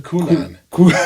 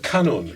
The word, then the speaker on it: kanun: What is a kunan? That sounds like a fruit you get at the grocery store. How do you say it? Wait a minute. How do you say it? Kanun.